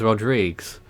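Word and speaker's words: Rodrigues: little rain over there it's not pronounced the Latino way over there is Rodriques yeah anyway um I can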